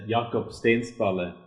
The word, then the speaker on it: Jakob Stensballe: And those were, help me with the pronunciation, Thomas. Oh, it's Jakob Stensballe.